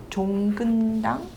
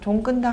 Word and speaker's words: 종근당: At 종근당, phonetically spelled JONGKUNDANG.